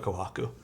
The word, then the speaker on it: Kohaku: be a command but why are you saying kohaku because that's how it's pronounced it's a different type of kohaku it's the kohaku with